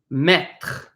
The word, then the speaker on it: mettre: Again, we have an E at the end, so we don't pronounce that E. It is silent.